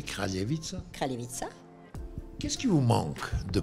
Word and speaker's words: Kraljevica: Et comment vous prononcez Kraljevica? Kraljevica.